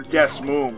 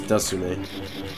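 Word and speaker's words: DeSmuME: I could have sworn you're playing on the DS emulator Desmoon, right? Or whatever you pronounce it. Desmoon. No, it's Desume. Desume?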